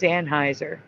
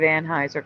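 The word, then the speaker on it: Anheuser: has to be because that's the way everybody pronounces it still to now it's always anheiser Bush that's not true that's what I'm saying during that Dylan moldy thing I was hearing people pronounce it ANH Houser oh okay they're pronouncing it ANH Hower Bush yeah and I was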